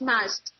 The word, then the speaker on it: Majd: Yes, it's Majd, not Majd.